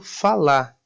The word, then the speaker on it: falar: Por exemplo, o verbo falar acaba sendo pronunciado falar.